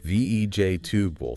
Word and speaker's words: vegetable: So it becomes v ej tub v ej tubable. Three syllables just three.